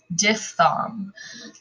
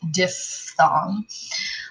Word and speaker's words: diphthong: of the diphthong please pay attention to how this is pronounced ph makes the f sound diphthong please do not go to your choir director and say oh that's a diphthong no that's just so weird and strange diff thong um so the rule